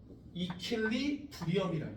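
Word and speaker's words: equilibrium: 자 뭐라고 읽어? 소방아. 이킬리브리엄이라는 거예요.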